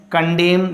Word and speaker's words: condemn: And condemn, that means criticize, N is understood.